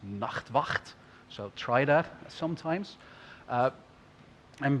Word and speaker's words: Nachtwacht: Now, if you want to hurt your throat, you should try the Dutch pronunciation. It's Nachtwacht.